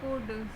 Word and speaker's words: could: है कैन के बाद कुड सी ओ यू एल डी इसमें जो एल है यह रहता है साइलेंट ठीक है अब देखते